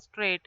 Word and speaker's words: straight: Then here, neighbor, daughter, fight, and straight. Here, G is silent. Okay, G is silent in all the four words. Neighbor, daughter, fight, and straight.